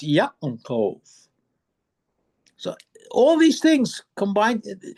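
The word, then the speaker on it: יעקב: But if you pronounce the ayin the way it's supposed to be pronounced, it's Yaakov.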